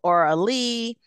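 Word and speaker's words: Auraleigh: So we have Sonia, Byron, Aralee, who for the listeners, that is spelled A-U-R-A-L-E-I-G-H. So Aralee, and we have Paul.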